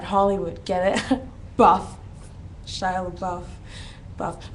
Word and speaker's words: LaBeouf: Buff, Shia LaBeouf, buff. But you wouldn't spell buff like buff. You'd spell it like BEOUF, buff.